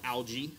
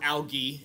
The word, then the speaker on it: algae: red and brown algae or algae algae is actually the proper way to pronounce it but I don't know whether or not I like the way that sounds so I don't use it very often uh how do you